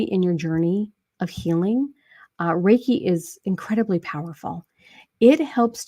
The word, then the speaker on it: Reiki: My wife is a Reiki master, and she gets mad at me because I mispronounced the word. But it's okay. It's all good. Reiki.